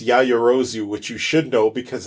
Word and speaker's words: Yaoyorozu: It's Kemerikusa, and it's Yayorozu, which you should know because it's the name of a character of My Hero Academia, Momo.